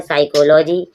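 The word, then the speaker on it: psychology: पी के बाद जब एस आता है पी साइलेंट हो जाता है, साइकोलॉजी।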